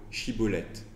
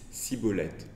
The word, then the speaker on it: shibboleth: tribu il leur demande de prononcer le mot shibboleth or les membres de cette tribu défraye n'arrive pas à le prononcer correctement du point de vue légal had et donc ils disent ciboulette et à cause de